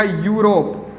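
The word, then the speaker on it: Europe: यह क्या हो गया यूरोप को अंग्रेजी के तो यह बाल स्टार्ट हो रहा है इसे लेकिन इसका उच्चारण तो यू आर यू आर है तो क्या लगाएंगे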